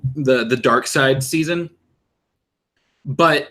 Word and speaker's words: Darkseid: side i mean dark you know who dark side is right yeah hold on i've got to show her a picture of darkseid now you guys you've